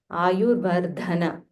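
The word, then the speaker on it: आयुर्वर्धनम्: So this is Mahaprana Dha. So you'll have to aspirate a little more Dha. Ayurvardhana.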